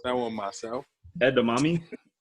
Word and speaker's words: edamame: I can't pronounce that one myself. Edamame? Endamami, is that what you pronounce?